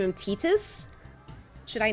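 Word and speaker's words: Tidus: I'll name him we'll name him Titus even though tetus is better no let's name him tetus as the proper pronunciation that's what the actor said that Titus pronunciation really upsets me let's go but I've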